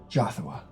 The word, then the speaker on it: Jothua: Jothua. He's gonna lisp. Great name. One of the best I've heard so Wow, that's great. I don't have a lisp that's just how you say it.